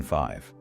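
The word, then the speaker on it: five: So what is the mechanical secret to the V in 5? It is all about the bottom lip. To make a V sound, your top front teeth must physically touch your bottom lip. Okay, teeth on lip. Yeah, and unlike the letter F, where you just blow air quietly, the letter V requires you to turn your voice box on.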